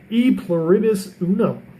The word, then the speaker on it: E pluribus unum: It's pronounced E pluribus unum, and in English that means one of many.